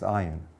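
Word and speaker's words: אין: The Hebrew word Ayin, actually there are two Hebrew words that are both pronounced Ayin.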